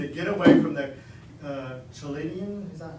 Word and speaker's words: Chaldeans: go into Jerusalem to get away from the Chaldean, is that how you pronounce that? And Armenian armies." So we have been living in Jerusalem. Yeah, Chaldeans, that's it. I always forget how to pronounce that.